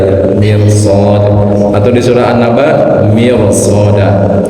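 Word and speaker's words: مرصاد: Kemudian sebelumnya kasroh itu dibacanya tarkik tipis fir, kecuali kalau di depannya ada huruf istilah seperti mirsad di surah Al-Fajr ada ya, mirsad, atau di surah An-Naba mirsada ya.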